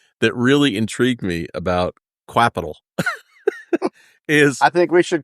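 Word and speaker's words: Qapital: clever marketing cpal but Capital it's I I actually had to figure out it's actually pronounced Capital but we can call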